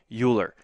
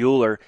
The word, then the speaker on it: Euler: to try to clear up some confusion with Euler's method. But before I actually clear up the confusion with Euler's method, let me apologize for how I've been saying Euler. It's not actually Euler, it's actually Euler, so it should be Euler's method.